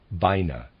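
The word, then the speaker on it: Binah: wisdom and on the other side vina b-i-n-a-h came in from the universe we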